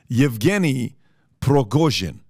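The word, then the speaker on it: Yevgeny Prigozhin: is a guy in him I want to pronounce this correctly evgeny progojin okay that's his name he's a billionaire it's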